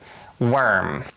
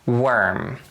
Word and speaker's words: worm: worm and you should be extra careful with the word worm we don't really get to round our lips instead it's er er worm the early bird gets the worm so it's a little bit of a smile worm worm and proverb number five